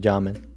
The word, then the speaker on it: Jamming: It's pronounced Jamin. Jamin? Oh, Jamin. It says jamming, so I'm going to say jamming. But yeah, Jamin.